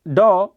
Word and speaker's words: dough: तो वही है मेक डॉ विथ फ्लोर। ये डॉ है, डॉ का मतलब क्या होता है? डॉ का मतलब होता है गुथा हुआ आटा। तो इसको डफ मत पढ़ना, जैसे कि आप रफ